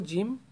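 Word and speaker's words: جيم: জিম আমাদের বাংলা ভাষার অক্ষরগুলোতে বর্গীয় জ বা ঝ এগুলোর সাথে মিলে যায়, এটা উচ্চারণটা এগুলোর সাথে হয়, বর্গীয় জের মতো হয়।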